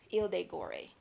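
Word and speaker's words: Île de Gorée: that's called gorée Island Ile de Gauri right that's the French pronunciation for it and I saw I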